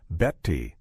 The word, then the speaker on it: Betty: He'd pronounced it beti, explaining it came from the German word besser, meaning better.